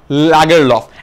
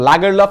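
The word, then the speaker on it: Lagerlöf: নারী বিজয়ীর নাম সালমা লাগারলফ। এখন সুইডিশ নেম, এটার দুটো উচ্চারণ আছে, একটা হচ্ছে লাগারলফ, একটা লেগারলফ, তোমরা যেটা উচ্চারণ করতে তোমাদের সুবিধা হয় সেটাই উচ্চারণ করতে পারো।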